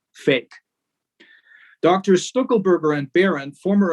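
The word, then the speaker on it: PHEIC: emergency of international concern, whose acronym is not by accident, they are laughing at us. Pronounced fake.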